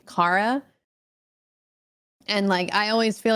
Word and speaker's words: Kara: Yeah, so my whole life I've been called Cara when it's pronounced Cara. So I always have to correct people that my name is actually Cara.